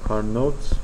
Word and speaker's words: Carnot: Carnot was a French guy, so it is written as Carnot. It is pronounced Carnot.